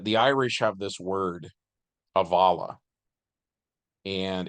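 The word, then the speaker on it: abhaile: Irish have this word Avala and it's spelled I believe a b h a i l e but it's pronounced aala and it means a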